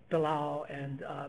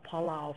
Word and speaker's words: Belau: The correct pronunciation is Belau, but it's been called Palau for so long that people kind of go back and forth.